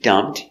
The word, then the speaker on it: dumped: The P is silent. Dumb. The sound T for past. Dumped.